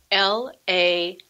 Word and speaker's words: Laval: a lovely small riverside city called laval and that's spelled l-a-v-a-l laval and you know in the mayan there